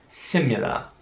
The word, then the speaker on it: similar: Wieder wird das I wie ein deutsches I ausgesprochen, also nicht since, sondern since.